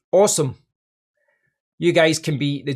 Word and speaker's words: Alxum: Now, they did make a point of saying in their email that it's not pronounced Alxum, it's pronounced awesome.